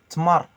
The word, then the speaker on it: tmar: Les dattes, Tmar. Tmar. tmar, avec le R roulé.